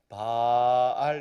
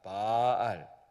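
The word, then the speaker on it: בעל: 하는 말 내 입으려 동사는 바알 입니다 자바를 길게하는 아닙니다 빨 이 말을 짧게 발음하면 어떻게 될까요 달 에 바로우 사항을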